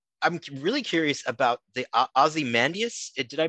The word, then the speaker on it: Ozymandias: goes um what i'm really curious about the ozymandias did i pronounce that correctly yeah it was on the